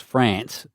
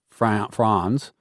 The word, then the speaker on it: Franz: I thought his name was France, and it was Franz.